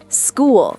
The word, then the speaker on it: school: Sometimes ch sounds like C, especially in words from Greek. Wait, what? Give me examples. School, character, chemistry, chaos, stomach. Hold on. School has a K sound. Yep. School, not sh character is career, not chctor.